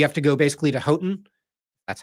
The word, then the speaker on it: Houghton: It's you have to go basically to Houghton. That's how you pronounce it.